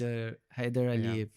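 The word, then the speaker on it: Heydar Aliyev: how to pronounce it. Sorry. guys. Haydar Aliyev That's Center.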